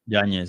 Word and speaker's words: Yanez: nice winning streak, including a win over Adrian Yanez. Is that a correct way to say it? Yanez, yeah.